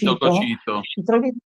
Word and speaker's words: Cocito: Questi traditori per Dante erano tutti immersi nel ghiaccio di un lago che si chiama il lago Cocito, forse no, non c'è l'accento, Cocito.